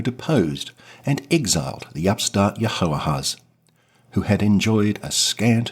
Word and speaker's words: Jehoahaz: elevated his 20-something-year-old son, Jehoahaz II. That's pronounced probably something like Jehoahaz, also called Shalom.